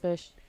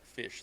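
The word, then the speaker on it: Phish: First off, we're talking about Fish, the band, not necessarily fish that swims in the water, okay? And it's spelled P-H-I-S and S-H or something like that.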